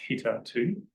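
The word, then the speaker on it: httr2: big one is HTTR 2 which apparently is pronounced hter 2 in the logo you get a baseball thing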